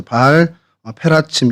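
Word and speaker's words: בעל פרצים: 그래서 바알 브라심은 이제 페라침 페라츠라는 단어에서 이제 불라심으로 저희가 이렇게 표기를 하고 있는데 그니까 바알 페라츠 바알 어 페라침 이렇게 발음을 하는게 이제 원어의 발음이고요.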